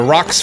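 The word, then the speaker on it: Roc's: We just got ourselves the rock's feather, or rook's feather. I've heard it being pronounced both ways.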